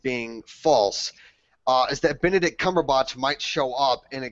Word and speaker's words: Cumberbatch: I thought I heard Cumberbunch. I was trying to laugh about that. It was like someone said Benedict Cumberbatch. I said Benedict Cumberbatch because I never get his name wrong, unlike all you yahoos.